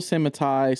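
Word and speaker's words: Mattei: you say his last so some people semitai some people say mate I say mate I'm going with mate I've always said it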